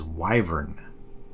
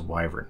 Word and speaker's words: wyvern: checked some other places and apparently the correct pronunciation of this word is wyvern I might flip back and forth the way